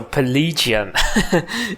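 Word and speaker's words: Pelegion: a plan let's go so pelegian is how it's how the city is pronounced okay you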